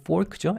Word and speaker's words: fork: 우리 가끔 학생들이 포크라고 생각하는데 포크가 아니고 fork죠. F 발음 조심하시고, 그리고 chopstick은 다를 아닌 것처럼 두 개니까 복수로 쓰는 거고, fork는 한 개로 이루어 쓰니까 단수형으로 씁니다.